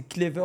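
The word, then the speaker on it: Klaivert: ça porte à confusion mon prénom les gars c'est mais ça s'écrit d'une manière assez particulière k L a I V e r t il y en a énormément qui se trompent après c'est pas un prénom commun tu vas me dire c'est normal mais voilà c'est clever et ça s'écrit comme ça OK et du coup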